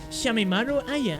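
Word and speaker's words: Shameimaru Aya: Reporter Shamina, how do you pronounce this? Shamimaru Aya.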